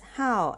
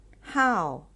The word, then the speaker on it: 好: I how Hobby so this is how as the fourth tone how and additional new words